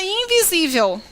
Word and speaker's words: invisível: Reparem a palavra invisível. Qual é a sílaba tônica da palavra invisível? Invisível. Não visível? Termina com qual letra?